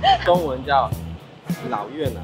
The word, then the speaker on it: Cơm niêu Lào Việt: Bạn phát âm nó như thế nào? Come milk, come dap, come back? Hehe, trong tiếng Trung, nó được gọi là Cơm niêu Lào Việt . Cơm niêu Lào Việt.